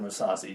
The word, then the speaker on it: Mousasi: Let's move on to the middleweight bout between Chris Weidman and Gerard Mousasi. Just because, yes. Thank you for pronouncing it correctly.